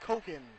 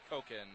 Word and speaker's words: Cocken: Jackie Cocken from De Pere, Wisconsin. Pronounced Koken. Koken.